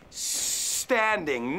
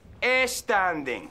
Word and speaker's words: standing: Fijaos, no he dicho standing. No es sílaba delante de la S. Standing. Extiende la S. I'm standing, not standing.